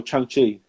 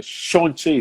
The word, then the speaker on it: Shang-Chi: But the Marvel yeah, we watched, actually, I went and saw Shang-Chi. No, Shang-Chi, so I was trying to say it right, basically the movie.